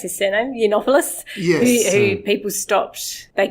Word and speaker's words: Yiannopoulos: Like Milo, how do you pronounce his surname? Yiannopoulos?